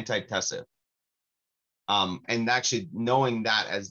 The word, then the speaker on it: antitussive: Tussive or tussative? There might be an extra syllable in there. Yeah, antitussive.